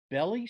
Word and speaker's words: Belle Plaine: was a belly city belly city yeah i never heard of that one well maybe just bell city but i think it was b-e-l-l-e oh that's bell that's pronounced bell okay well anyway you